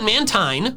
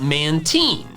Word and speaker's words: Mantine: They used to call it Mantine, which is where I got my pronunciation, but now they call it Mantine. I am of the opinion that if the anime pronounces it a certain way at any point in time, then that pronunciation is valid. So, Mantine, that's great. Go for it, call it that. But I'm gonna keep calling it Mantine because I'm not wrong.